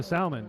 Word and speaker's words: salmon: of salmon yeah and what is the L doing in Salmon I don't know I